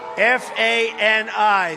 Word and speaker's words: Fani: F-A-N-I. That's pronounced Fanny, but you're not allowed to say it. It's Fani.